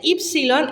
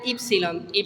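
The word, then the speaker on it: ípsilon: Perdón es así y el sonido de ipsilon es de una u francesa Qué significa esto que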